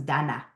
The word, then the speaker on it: Dana: you have a um a name that is pronounced differently it's an Israeli name my parents were born in Israel actually so I was born here in LA but over there everyone's Danna Danna you can call me